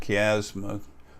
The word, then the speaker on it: chiasma: Then there's the optic chiasma, or if you pronounce it as it's written, it looks like chiasma, but it's pronounced chiasma.